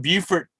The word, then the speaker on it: Beaufort: And then we have a Beaufort, North Carolina, and it's spelled the same way, but it's pronounced different. Beaufort.